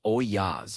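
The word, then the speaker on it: ollas: This system is called Olas, pronounced oyas if you want to sound like you know what you're talking about. It's Spanish for pots, which makes sense because that's exactly what they are.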